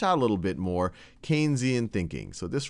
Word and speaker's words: Keynesian: more one that's more Keynesian. And some of what we've talked about, or Keynesian, I should say, I already did my first mispronunciation, one that's a little bit more Keynesian.